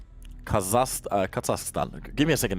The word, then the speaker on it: Kazakhstan: down here in South Carolina all right kazak Kazakhstan give me a second it's always hard for me to pronounce it Kazakhstan Kazakhstan Kazakhstan yeah actually have